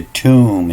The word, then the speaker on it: tomb: here you know the the tomb is spelled t-o-m-b or t-u-m-v you know they change up the u and the o but the b is silent you know that what